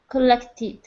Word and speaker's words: collected: dropped the Ed collected collected yeah be very careful not to drop the last syllable in Ed words and S words it's very easy to drop it so it's tid collected okay I think that